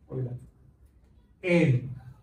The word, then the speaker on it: Euler: Así se pronuncia en alemán. El EU es un OI, ¿verdad? Y la R es como una Euler.